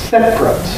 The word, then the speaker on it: separate: you typically get compression what people usually say is actually two syllables separate modate and that therefore